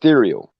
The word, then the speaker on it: Thereal: I always called it Thereal. You're pretty accurate. It's kind of a play off of ethereal, so you're pronouncing it correctly.